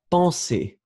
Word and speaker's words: penser: Remember that you have the nasal en, so it's really en. Penser.